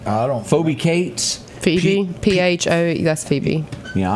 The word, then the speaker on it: Phoebe Cates: Phoebe Cates.